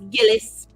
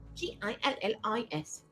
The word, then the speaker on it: Gillis: It's Gillis. G I L L I S. Gillis.